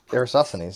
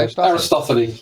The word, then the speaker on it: Aristophanes: Nice pronunciation, by the way. Aristophanes, yeah. But I actually got it right. Oh, thanks. Yeah, Aristophanes. But Aristophanes. Oh, you don't pronounce the last S? No.